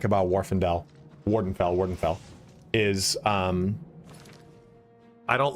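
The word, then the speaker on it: Morrowind: guy and he's like Wardenfell. Okay, thank you. I didn't know that's how pronounced. Thought it was Varendel. I like how I thought it was Varendel. Where's that second F coming from?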